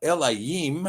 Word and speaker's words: Elohim: Now, Elohim is the correct pronunciation. There is no O in it.